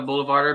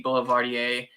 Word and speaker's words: boulevardier: as he says my bad holding you can pronounce it either way honestly you know I mean I'd call it a boulevarder because that's what I've heard on the internet but I very well could be boulevardier from where it originated I don't know where